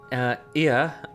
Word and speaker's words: Ea: When the vibration of vocal folds was still required to convey our thoughts and intention, Ia, I believe was the pronunciation used when referring to our people.